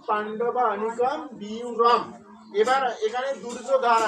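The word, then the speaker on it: পাণ্ডবানীকম্: তাহলে এখানে আমরা পাণ্ডব যোগ অনিকম উচ্চারণ করবো। তাহলে কি উচ্চারণ হবে পাণ্ডবা অনিকম, পাণ্ডবা অনিকম।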